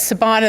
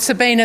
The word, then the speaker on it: Sabina: my name Sabina that's Sabina the minor and not Sabina the ballerina but going back a